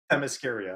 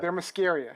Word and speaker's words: Themyscira: It's Themyscira. Thermoscaria.